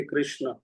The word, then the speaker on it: कृष्ण: कृष्ण का उच्चारण में थोड़ा सा त्रुटि होती है। तो इसको अभ्यास करें। कृष्ण, हरे कृष्ण, हरे कृष्ण,